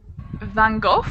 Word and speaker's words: Van Gogh: Van Gogh with an F at the end, like the sound of an Yes, F?